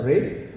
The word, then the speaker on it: Ra'e: It's my privilege today, on behalf of the entire Tamara family, to introduce Ray by Tamara, India's first faith intelligent hospitality brand. It's pronounced as Ray, written with an accent on the E, a small typographic mark